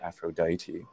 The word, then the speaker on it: Aphrodite: Greek and the uh the long e sound regularly becomes I and so Aphrodite so what is it